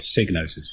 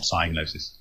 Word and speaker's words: Psygnosis: interviews but in Hetherington always pronounce it sig notice not cyanosis hahaha I've had to take